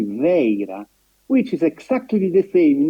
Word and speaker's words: Vajra: But the best approximation for the pronunciation of Vajra, Vaira, in Prakrit, Gandhari, is actually Veira, which is exactly the